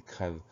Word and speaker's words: crève: On prononce plus il creuve, mais on va prononcer il crève.